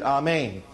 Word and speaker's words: amen: I say unto you the Hebrew word there is the word amen or they pronounced it amain amen amen I say